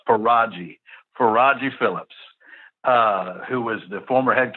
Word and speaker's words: Faragi Phillips: I will go ahead and give you the pronunciation it's for Raji for Roger Phillips who was the former head coach at Whitehaven